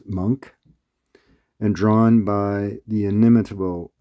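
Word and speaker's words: Moench: That's M O N C but pronounced Monk and drawn by the inimitable Paul Galaci.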